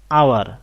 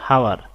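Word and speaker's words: hour: I have made an আওয়ার late, এখানে উচ্চারণটা হলো আওয়ার নট হাওয়ার, আওয়ার, একটা ভাওয়েল সাউন্ড আসছে, এই কারণে আমরা বসিয়েছি এন।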